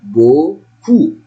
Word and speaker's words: beaucoup: This is O and this one is double O. I say ou, beaucoup.